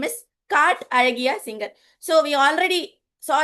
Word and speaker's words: Azhagiya: Alagiya means, now the ZH, how to read the ZH is R in Tamil. So many of you may be able to pronounce or not. It's Alagiya.